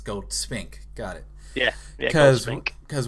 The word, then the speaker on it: Goldspink: Yeah, because I want to say Goldspink. Yeah, that's it, yeah, Goldspink. Okay, so it's not like break it up, Gold's Pink, it's Goldspink.